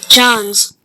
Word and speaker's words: Jonze: Is it Jones? Johns? Come on now. It's loading. Spike Jonze. Okay, I said it right.